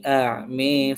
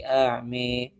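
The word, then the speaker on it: أعمى: Kemudian a'ma sama juga dibaca pakai imalah. Waman kaana fi hadhi a'mi fahua fil akhirati a'mi.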